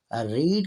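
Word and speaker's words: read: साथ हैज शी हैज रीड की first form भी रीड होती है और थर्ड भी रीड होती है स्पेलिंग एक जैसे होते हैं ले पढ़ने में मुख्तलिफ है शी हैज रेड इसको पढ़ेंगे शी हैज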